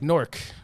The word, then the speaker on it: Newark: He pronounces it right. Yeah. You know, it's like Nork. You know, Nork. Newark.